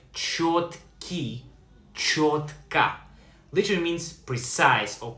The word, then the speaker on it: чёткий: Pronounced like чёткий.